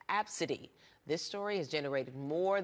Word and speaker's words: ABCDE: my daughter well her daughter's name is filled ABCDE and pronounced Absa D this story has generated